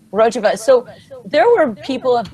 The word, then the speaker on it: Rojava: Rojava.